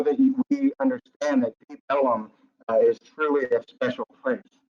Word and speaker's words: Ellum: That was Elm Street, that's pronounced Ellum.